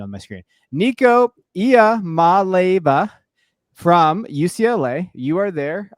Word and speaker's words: Nico Iamaleava: I put up the pronunciation on my screen. Nico Iamaleava from UCLA.